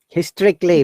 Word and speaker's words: historically: striped bass are both historically and the most Historically, remember, A-L-L-Y, Historically. S-A is silent. Historically.